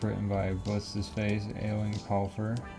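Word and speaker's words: Eoin: Sixth book written by what's his face, Eowyn Colfer. I think his name's actually just pronounced Ian. It's spelled way differently.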